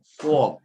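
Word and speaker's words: ص: Baik, huruf sekali ini yang kita bahas adalah sodun, ya, bacanya bukan sodun tapi so, ada itbaqnya, so, seperti itu, so, seakan-akan kita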